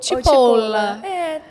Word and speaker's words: Cipolla: Eu estava até perguntando para ela se ela queria que eu pronunciasse Cipolla, assim como era o nome da marca, ou Cipolla. Me chamam pelos dois, mas comum Cipolla, que é como se lê, né? Aqui no Brasil, em português.